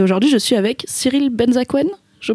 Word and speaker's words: Benzaquen: Et aujourd'hui, je suis avec Cyril Benzaken, je prononce bien ? Cyril Benzaken.